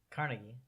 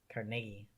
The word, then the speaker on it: Carnegie: And like just like there's Carnegie Hall, it's interesting because here you say it differently than we do. Well, how do you guys say it? Carnegie, And how do we say it? Carnegie.